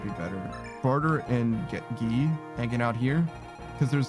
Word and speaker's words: Guy: I think his name in Japanese is Gi. It's spelled with a Gi. I think it's long Gi as well. So like Gi with a long vowel after it. But people do call him Guy.